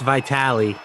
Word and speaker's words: Vitale: Jim says it's pronounced Vitali.